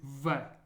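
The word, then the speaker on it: В: The first letter is V. V. And it's pronounced like a V in English, as in very.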